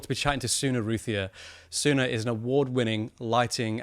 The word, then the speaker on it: Routhier: So, Rae Routhier, is it Routhier? Is that how you pronounce it?